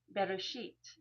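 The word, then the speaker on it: בראשית: Bereshit is how you would pronounce that.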